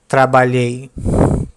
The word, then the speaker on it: trabalhei: Start by producing the sound of the letter E, which is lower, very soft. Trabalhei, trabalhei, trabalhei, trabalhei. And when you pronounce it naturally, let only one sound come out.